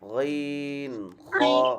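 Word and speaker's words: خ: এটা সাউন্ডে বুঝা যাচ্ছে আপনি মুখ গোল করে বলতেছেন খ এটা খ না না এটা হচ্ছে খ এরকম থাকবে মুখ সোজা নরমাল খ এরকম হবে না খ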